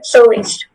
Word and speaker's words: soliste: This word is only pronounced soliste. Okay, soliste.